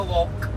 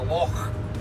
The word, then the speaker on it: loch: Not a loch, it's a loch. Clear your throat when you're saying it.